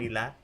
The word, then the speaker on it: Leela: my name's Lila Lila Leela how do you spell it l l Leela like Leela and Stitch Leela um it's uh